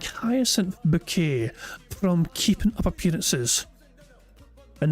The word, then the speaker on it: Bucket: appearances but but yeah, her name is Bucket, but she pronounces it but because she she she wants to feel fancy, she pronounces it bouquet, even though her name is bucket.